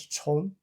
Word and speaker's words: 蟲: Originally, this character pronounced as chong.